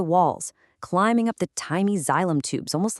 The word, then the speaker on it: xylem: Well, those structures are called xylem, pronounced xylem.